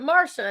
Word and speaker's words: Marcia: I'm used to My mom's like, "We're gonna spell it Marcia, but we're gonna pronounce it Marsha and make everyone confused."